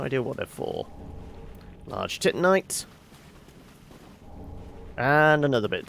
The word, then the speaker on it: Titanite: what they're for large titanite and another bit of tit Knight also for anybody uh going on tilt because I know it is pronounced Titanite I just like to